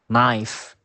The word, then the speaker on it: knife: business now now the letter K is usually silent before the letter N for example knife knock no and letter L can